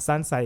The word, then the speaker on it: Tsansai: But a lot of people know me as Tsansai. That's how you pronounce it. You see, I'm a cropping and I could have mashed what it up. you think? Me never done that gracing on. And Tsansai is T-S-A-N.